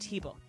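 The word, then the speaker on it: Hybl: It's spelled H YBL and it's pronounced Heble.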